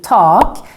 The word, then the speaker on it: tak: or ceiling in Swedish with a long R in talk because there's just one consonant coming after the a but then we have